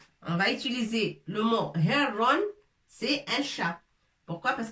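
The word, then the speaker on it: هِرٌّ: Mais c'est pas heron, mais herron. On est obligé de rajouter shidda pour appuyer sur la lettre ra.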